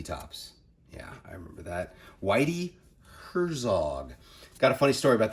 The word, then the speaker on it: Whitey Herzog: They had no clue who any of these baseball players were, and they pronounced Whitey Herzog as YT Herzog for some reason.